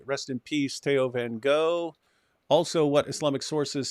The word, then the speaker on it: Theo van Gogh: It's just the pronunciation is Theo van Gogh.